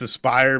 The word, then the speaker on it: Aspyr: I only know that it's Aspire because I did a brand with them.